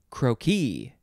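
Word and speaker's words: croquis: that's a fun word next no it is croaky c-r-o-q-u-i-s this is a very french section noun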